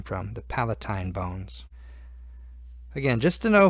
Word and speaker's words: palatine: almost like Valentine but it's not it's it's Palatine sometimes pronounced Palatine and it's this little gray bone right here